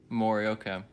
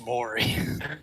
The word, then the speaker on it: Maury: what was it mori morioka i had interrupted you and i apologize it's maury it's morning that's my bad dog is that spelled like maury povich would you like to